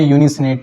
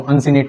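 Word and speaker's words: uncinate: इसको हम बोलते हैं यूनिसिनेट प्रोसेस, अनसिनेट या वो भी बोलते हैं, मेरी प्रोनाउंसिएशन का थोड़ा सा इशू है। सो अनसिनेट प्रोसेस।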